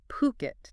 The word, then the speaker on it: Phuket: We're talking about the island of Puket, Thailand. And our guide for this deep dive is a fascinating single source. An article called Hidden Gems Exploring Fuket. That's Puket.